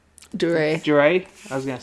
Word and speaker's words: Duryea: Is it Taylor Duryea? Duray. I was going to say, I knew I pronounced that wrong. Duray.